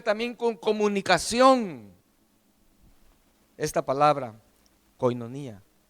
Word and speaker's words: koinonía: una palabra griega que se dice koinonía se escribe koinonía y tales así se pronuncia y koinonía lo que